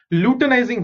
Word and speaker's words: luteinizing: Next, luteinizing hormone. Okay, so how do you pronounce this? LU is lu, TEI is te, NI is nai, and ZING is zing.